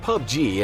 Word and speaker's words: PUBG: Fortnite and PlayerUnknown's Battlegrounds, or PUBG (pronounced pub-gee) as it’s best known.